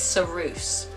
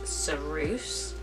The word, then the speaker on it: ceruse: So in early British times, women used to use a substance called, I think it's ceruse. I'm not 100% sure how to say it, but I believe it is ceruse.